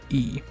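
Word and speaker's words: い: spell it in english it's the letter i but it's pronounced like the letter e which is confusing because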